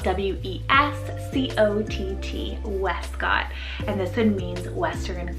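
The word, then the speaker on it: Wescott: Then I have Westcott, spelled W-E-S-C-O-T-T, Westcott.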